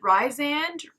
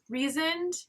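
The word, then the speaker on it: Rhysand: his name so wrong is it ryzen reasoned right it's r-h-y-s-a-n-d rise okay that character just because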